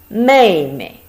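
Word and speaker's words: 妹妹: exactly the same but the last one pronounced light may me if you pay attention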